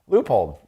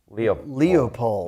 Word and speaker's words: Leupold: here people um and Leupold loophole's another sponsor not pronounced Leopold Leo Leupold it's not right so but they have